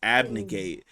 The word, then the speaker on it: abnegate: okay um today's word of the week is abnegate and for the audio listeners I'm going to spell it out for you it's spelled a b